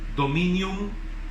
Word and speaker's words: dominium: La palabra dominio, hermanos, tiene una raíz que se pronunciaría dominium, y se refiere a una autoridad, poder, mando, potestad que alguien o algo tiene sobre uno mismo o sobre otra persona.